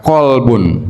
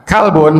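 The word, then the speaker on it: قلب: Walaupun tulisannya kalbun tapi bacaannya jangan kalbun. Itu bisa berarti salah makna.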